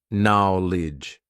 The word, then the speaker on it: knowledge: Knowledge. So many letters, so many useless letters in terms of our pronunciation, right?